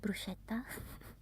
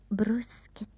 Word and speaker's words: bruschetta: of certain Italian food like bruseta that people call bruschetta but it's bruseta gh in Italian is like a k bruseta and then probably the hardest is the sound it's Not ne.